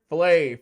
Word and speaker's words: Flav: Next on the list is Flavor Flave.